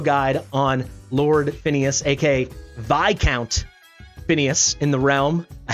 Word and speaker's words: Viscount: out most thorough guide on Lord Phineas AKA VI count Phineas in the realm I have to get this off my chest I said this was Viscount flame apparently according to like a million of you it is pronounced VI counts flame I don't know this